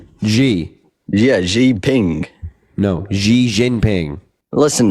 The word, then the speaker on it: Xi Jinping: XI Ping? Are you fucking kidding me? Xi Ping. Xi that his Jinping. Xi? Xi? Xi. Yeah, Xi Ping. No, Xi Jinping.